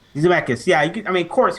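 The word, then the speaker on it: Zemeckis: I believe what is it uh how you pronounce it? Zmechus. Zmechus.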